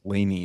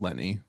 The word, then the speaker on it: Leni: Taylor, not to She didn't- correct you and mansplain here, but it's pronounced Leni, not Lenny. Is it? Yeah, I know it's Leni, but it's actually Leni.